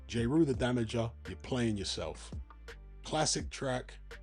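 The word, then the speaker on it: Jeru the Damaja: That's how it's spelled that way, but pronounced Jrew, the damager. Damager being spelled D A M A J A. Ju the Damager.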